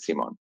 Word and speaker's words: Simon: And then I just continued with just Simon spelling, but pronounce it Simon.